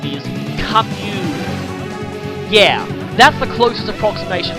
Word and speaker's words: Camus: You might notice that I've been pronouncing this guy's name Camus throughout the whole thing. I've gotten a lot of people saying it's actually supposed to be pronounced Chemus or Camus.